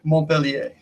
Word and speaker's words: Montpellier: But the proper pronunciation is, if you want to do the full French, is Montpellier. The T is silent.